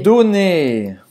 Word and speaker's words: donner: Donner. Que é dar. Dar. Não vai pronunciar o R no final. Donner.